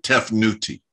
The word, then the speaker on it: Tefnut: it's uh so when you when you see tef newt you know you'll see the word t e f n ut tef newt well they pronounce it tefnuti you know the the priests are uh the